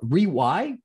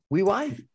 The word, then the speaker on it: Riwi: He is the founder and chairman of Rewy. Is that how you pronounce it? Rewy? So anything goes. Rewy, R-I-W-I, or W-I. Riwy Corp.